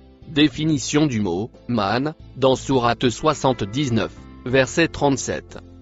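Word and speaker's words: من: Le mot en bleu ciel se prononce man. Définition du mot man dans Sourate 79, verset 37.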